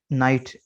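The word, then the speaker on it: knight: ठीक है, इसके बाद नाइट, के एन आई जी एच टी, नाइट, इसका माना होता है जंगजू, सिपाही सालार।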